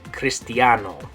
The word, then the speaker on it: Cristiano: a hard C okay so for example uh Christian okay the word Christian is a cognate so in English we say Christian in Spanish you're going to say Cristiano or if it's a woman